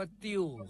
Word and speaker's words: ติ่ว: ขอ เสนอ คำ ว่า ติ้ว ครับ ติ้ว เขียน ต่อ เต่า สระอิ แม่ เอก วอ แหวน รวม กัน แล้ว อ่าน ว่า ติ้ว ครับ ติ้ว นี่ เป็น